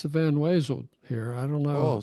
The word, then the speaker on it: Van Wezel: so the folks that have never, the Van, is it pronounced Van Weasel or Van Wezel? Like the Wezel? I don't know. I think it's spelled with a W. It's spelled with a W. I always call it the Yeah, weasel, yeah. which is not correct.